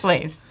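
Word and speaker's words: Blaise: Did I pronounce his last name right? Blaze.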